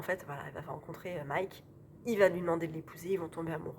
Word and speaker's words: Mike: en 1956 et alors Mick elle dit Mick mais ça s'écrit Mike m i k e donc je dis Mike Mike Riva veut devenir